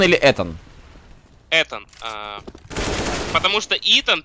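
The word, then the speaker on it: Ethan: А, Итан или Этан? Этан. Потому что Итан пишется как E-A-T-O-N.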